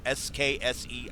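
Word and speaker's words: SKSE: folks who uh developed sky or SKS E I always pronounce it sky the Skyrim script extender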